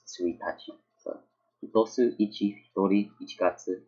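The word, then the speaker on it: 一日: Suitachi. This is like a special case. You don't pronounce this as ichi nichi or ichi whatever. It's The whole word is just suitachi.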